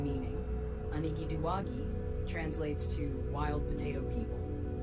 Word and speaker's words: Illumiwiji: Name meaning: Illumiwiji translates to wild potato people, referencing their traditional role in gathering and cultivating wild potatoes and other plants along riverbanks.